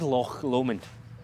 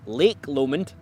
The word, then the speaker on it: Loch Lomond: Right, okay, I'll tell them how to pronounce it. Yeah, sorry. Anyway, this is Loch Lomond. What it is not is Lake Lomond, and it's certainly not Loch Lomond.